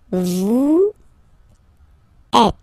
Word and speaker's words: vous êtes: Vous êtes. Same thing here. Notice that final S is not pronounced.